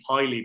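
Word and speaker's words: Pilley: But Waterford, obviously with the news of a new ownership, Andy Piley, by the way, that's how you pronounce it in case anyone's watching, I found out yesterday, obviously took over the club.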